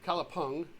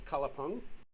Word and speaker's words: Kalapang: yeah I do though kalapeng I got or kalapung spelled Pang pronounced Punk uh that is located